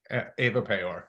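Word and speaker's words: Ewa Pajor: Eva Pajor, how do you pronounce the name? Eva Payor. Yeah. Eva Pajor. Yeah, she's Polish, so just throw it to the Pole to help you out.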